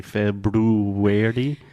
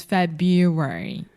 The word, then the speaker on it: February: word because there are there's that R right after FIB but we do not pronounce that so we do not say February it would be February but it's February February yeah yeah so